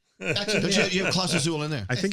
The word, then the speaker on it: Clase Azul: you have Class Azul in there? I think it's empty, though. It's empty. It's Isn't empty. it pronounced Class Azul, not Clase Azul?